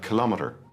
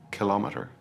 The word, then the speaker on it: kilometer: Then we have kilometer. The stress is usually on the second syllable, kilometer.